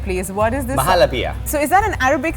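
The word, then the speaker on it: Muhallabia: Mahalapia.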